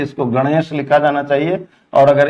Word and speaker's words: गणेश: गणेश, इसको ढ पढ़ा जाता है, ये श है, इस तरह से इसको गणेश लिखा जाना चाहिए।